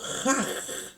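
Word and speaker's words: חג: Fiesta del hebreo Haj, con G de gato al final. J-A-G. Haj, que significa festival con sacrificio.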